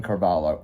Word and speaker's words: Carvalho: My name is Carvalo. Carvalo is spelled C A R V A L H O.